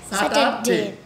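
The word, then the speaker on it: Saturday: বলবো স্যাটারডে এরকম বলবো এটা কিন্তু আ সাউন্ড না এটা এ সাউন্ড তাহলে কি হবে স্যাটারডে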